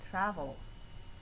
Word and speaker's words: travel: For number 3, the tra, first syllable, is the stressed syllable.